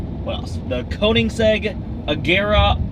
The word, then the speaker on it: Agera: aera R is not right it is the Agera and kig zeg that is pretty hard to pronounce spelling is harder to to do this